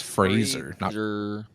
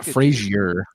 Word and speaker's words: Fraser: phrase he's a Fraser gotta say it right it's Fraser he's a Frazier for freezer Razer with an F it's Fraser he's a